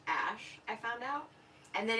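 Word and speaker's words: Æ: thing of two letters it's pronounced ash I found out and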